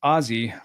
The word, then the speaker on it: Aussie: When you say Aussie, it's pronounced Ozzy, like Ozzy Osbourne.